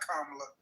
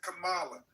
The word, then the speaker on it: Kamala: It's not Kamla. It's Kamala. She's Indian.